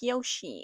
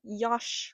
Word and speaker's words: Yosh: It is pronounced Yosh like Yoshi. It is not Yosh like Josh.